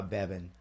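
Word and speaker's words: Bebhinn: you yeah bieben uh Bevin Mac management it's such a crazy name to say I love her but my gosh b-e-b-h-i-n-n-bevin so I clearly son why would I think BH pronounce v well I mean there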